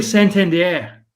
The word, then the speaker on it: Santander: now this is okay people would say Anthony Santander it's actually Santander so uh which I found out because when I went to Camden Yards last year that's the way they pronounced it so it's actually a fancy pronunciation and then um Mike